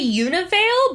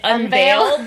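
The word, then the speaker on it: Univeil: They say Univale, but I keep pronouncing it Unveil because that's what it looks like, but it's Univale.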